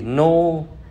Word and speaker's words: know: Know là biết, knee là đầu gối, knock là gõ. Thì no, knee, knock ở đây chúng ta hãy quên chữ K đằng trước nó đi nha các bạn.